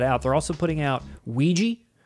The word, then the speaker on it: Ouija: are putting that out they're also putting out Ouija say it like that because that's what it's called Ouija Ouija then you have the steelbook lastly from